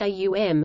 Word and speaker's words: Om: The Aitareya Brahmana of Rig Veda, in section 5.32, for example, suggests that the three phonetic components of Om, pronounced A-U-M, correspond to the three